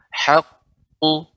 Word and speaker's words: حق: Ini qaf, kita berhenti pada huruf qalqalah yang merupakan huruf isti'la. Qaf merupakan huruf isti'la sehingga dan bertasydid sehingga ya harus kita perhatikan pengucapannya. Kemudian tanpa memonyokkan bibir, haqqu.